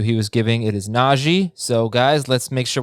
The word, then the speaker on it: Najee: It is Najee.